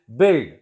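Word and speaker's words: build: एंड बिल्ड. This is a verb. बिल्ड. बिल्डिंग. बिल्ड. U is silent.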